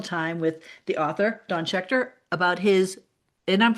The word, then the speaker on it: Schechter: Well listeners out there we have just spent some wonderful time with the author Don Shear about his and I'm pronouncing your name correctly.